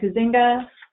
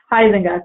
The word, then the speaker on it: Huizenga: The representatives are Huizinga, who I always pronounce incorrectly. Huizenga, thank you.